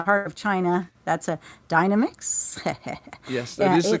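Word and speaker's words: Dynamix: enough the the heart of China that's a Dynamics yes that is the correct pronunciation of course it is it's nothing to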